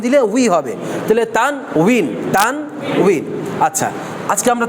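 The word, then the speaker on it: تنوين: সেটা হচ্ছে তানবীন কি তানবিন এক্ষেত্রে অনেকে এটাকে তানবিন লেখেন আসলে উচ্চারণটা হবে বাংলাদেশ লিখলে সুন্দর হয় এই তান উইন তানু উইন তান উইন কেমন উচ্চারণটা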